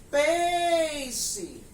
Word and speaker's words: peixe: Se eu gritar peixe, peixe, demorei mais na sílaba PEI. Então, a gente também está vendo que a sílaba tônica da palavra peixe não é a última. Por isso, tem som de I.